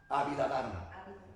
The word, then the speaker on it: Abhidharma: Abhidharma. Abhidharma, así como tal como lo estoy pronunciando, así se escribe.